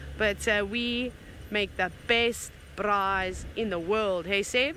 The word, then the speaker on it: braai: For those of you who don't know what a braai is, a braai, I should roll my R's and say it properly, a braai, B-R-A-A-I.